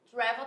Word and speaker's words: travel: Só que o verbo travel, ele é um verbo onde a minha primeira sílaba, ela é tônica. Travel. Então, esse vou não é tônico, e sim o tra.